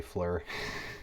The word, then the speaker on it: FLIR: every time they say fleur because i've always pronounced it flare my entire life and then in front